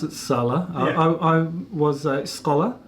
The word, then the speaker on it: Salla: I pronounce it Salla.